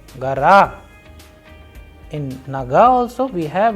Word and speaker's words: гора: For example, in the feminine gender words we have gara, naga, whereas we have vowel o after letter g, r and a. So the pronunciation is coming as gara.